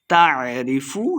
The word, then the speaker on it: تعرف: تعرف فی وجوہہم نضرۃ النعیم، تعرف عین کو تلفظ سے پڑھنا ہے، لمبا بالکل نہیں کریں گے.